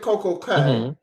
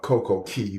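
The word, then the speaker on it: CocoCay: want to ask you this you stopped that Coco K it's been uh about a year and a half since I've been to to I I know the correct pronunciation is uh CoCo Key but I don't care it's Coco K yeah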